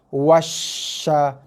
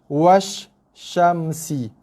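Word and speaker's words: والشمس: Washa macam tu. Bukannya washa. Ada yang baca macam tu. Ada di kalangan pelajar saya dalam sesi talaqi one to one dibaca dengan macam ni. Wasyamsi. Itu kaedah bacaan, cara bacaan yang salah. Okey, dibaca dengan sekali tekanan sekali lepas. Wasyamsi.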